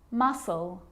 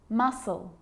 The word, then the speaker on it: muscle: a few problems because it's often silent after the letter S like in these very common examples they're quite tricky muscle muscle scissors fascinate seen scenario